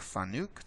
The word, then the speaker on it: FANUC: It's spelled like FANUC. They've told me it's pronounced FANUC. That rhymes with panic.